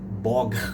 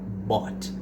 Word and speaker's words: bought: Então ao invés de falar boga ou boguet, né? Você vai falar bot.